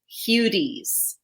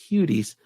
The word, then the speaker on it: Hudes: But then you got to pivot and you got to go into like an Eastern European pronunciation, which is Hudes. Hudes. You got to like roll it.